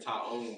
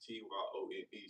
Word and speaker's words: Tyrone: And so they be saying Tyrone because how it's spelled. I'm like, it's Tyone. So I say, if you just take the tie off, then you got one.